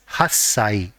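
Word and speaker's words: 八歳: Similarly, for 8 years old and whenever the age is ending with 8, the part corresponding to 8 has to be pronounced as hassai.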